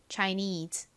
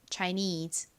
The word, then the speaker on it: Chinese: 소리 나는 E가 옵니다 발음해 볼까요 chines 한 번 더 해 볼게요이 neede 부분에 강세를 주세요 Chinese 자 같이 적어 볼게요